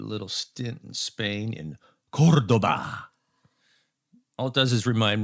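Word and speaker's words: Córdoba: So, but apparently it's pronounced Cordoba, and they have this castle there.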